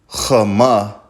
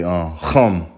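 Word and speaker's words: חם: Okay, right there you got Chama. All right, but you're not gonna say it like that. You're gonna say Chum. All right, Chum.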